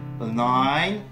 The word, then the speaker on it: align: Le I se prononce I lorsque suivi de ND ou de GN en fin de mot, et le cas échéant, le G disparaît.